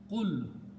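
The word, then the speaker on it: قل: and there is some other thing happens, and pronounce as qul.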